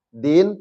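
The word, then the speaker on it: دين: Iya makanya disebut dengan Din Din pembalasan Dain hutang hurufnya sama Dal ya Nun hanya harakatnya berubah tanda bacanya yang satunya fathah artinya hutang yang kasar artinya pemb balasan sebenarnya sama ya ya ya Adin Iya Adin kasrah ya Din itu dnya dalnya kasrah artinya agama innaddinaallah sesungguhnya agama yang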